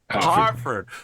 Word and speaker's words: Hertford: This is the Battle of Hertford, although because it's British, it's probably pronounced Ertford or something like that. Hartford. Of course, who doesn't pronounce an E as an A?